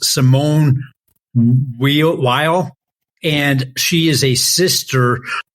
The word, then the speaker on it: Simone Weil: Well, the very first quote, Brian, you probably appreciated because it came, I think it's pronounced Simone Weil, and she is a sister of a famous mathematician.